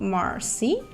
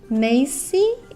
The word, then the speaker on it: Macy: And I just want to make sure that, oh no, her name is not Marcy. Her name is Macy.